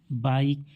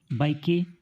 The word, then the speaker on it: bike: बाइक को बाइके नहीं पढ़ते, क्या पढ़ते हैं, बाइक पढ़ते हैं।